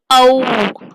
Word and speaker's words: ஔ: அவ் என்பது ஆவில் தொடங்கி ஊவில் முடியும். உச்சரித்து பாருங்க, ஔ ஆ ஔ.